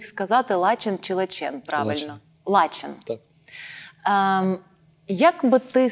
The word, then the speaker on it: Лачен: Лачен.